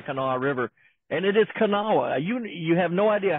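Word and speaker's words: Kanawha: there on the kaawa river and it is kaawa you you have no idea how many times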